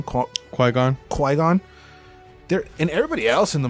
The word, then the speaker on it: Qui-Gon: Qui-gon.